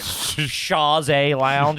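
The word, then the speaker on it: chaise longue: like oh that's a sha Lounge that's not something I heard a lot and or comfortable in the French pronunciation Shaz Lounge or something that's a shayy lounge bonjour hello uh okay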